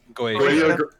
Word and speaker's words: Goetia: He literally says during an event, I stole this of the Oz Goetia. They pronounce it Goetia or something? Goetia. Yeah, it's Goetia.